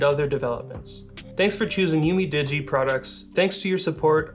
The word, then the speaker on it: UMIDIGI: I completely missed the I in there and I was calling it UMDIGI, but there's another I, so it's UMIDIGI.